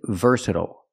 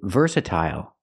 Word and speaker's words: versatile: D sound vers Versa the stress is on the first syllable ver we use the UR sound like Burger ver verse we have